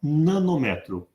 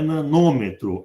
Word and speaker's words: nanômetro: Que eu vou passar para nanômetro. E aqui uma correção. Não é nanômetro, é nanômetro. Sistema Internacional de Unidade, os prefixos têm a primeira sílaba tônica. Nanômetro, micrômetro.